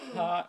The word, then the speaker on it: thyme: Time. Oh, it's pronounced time?